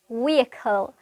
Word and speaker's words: vehicle: නමුත් vehicle නෙමෙයි හරි pronunciation එක වෙන්නේ vehicle.